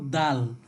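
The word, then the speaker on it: د: এরপরে দাল, দাল সামনের দুই দাঁতের মাড়ির সাথে আমরা কি করব, জিহ্বাকে লাগিয়ে উচ্চারণ করব দাল।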